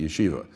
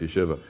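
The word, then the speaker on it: ישיבה: i'm from chicago because most people pronounce it yeshiva right so that's incorrect it's yeshiva and they took this group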